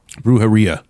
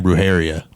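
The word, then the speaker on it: birria: BR Brar cuz I for a long time I said it wrong I was saying bharia oh yeah yeah and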